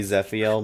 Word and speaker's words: Zephiel: own way to pronounce I know it's supposed to be zephiel my brain just wants